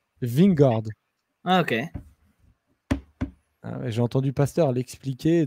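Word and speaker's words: Vingegaard: attaquer quand tu prononces ving gordes ok j'ai entendu pasteur l'expliqué donc très facile tu dis ving et après tu rajoutes gordes ok tu spa wingers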